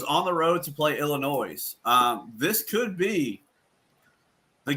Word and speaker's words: Illinois: thoughts on this Minnesota Illinois game I think I think well first of all it's Illinois with the S is silent whatever you could go